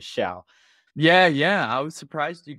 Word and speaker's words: Showe: And for a long time, I was calling you Showe. So now I know your real, the pronunciation of your last name is Showe.